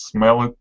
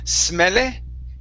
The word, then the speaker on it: smelly: being trapped in this smelly tin can. Okay, very good. All right, let's practice this Y sound at the end. Okay, so instead of saying smelle, okay, it's E, smelly, smelly tin can.